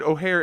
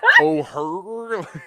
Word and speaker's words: O'Hare: she said it right O'Hare I'm like is there other way to say the name of Chicago's o O'Hare Airport is do people say it oh her what other pronunciations are there so I saw I